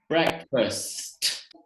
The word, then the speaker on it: breakfast: So here we have breakfast. You pronounce that final T.